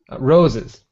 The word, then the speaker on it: roses: Roses. No. It's spelled with an S, but it's a Z.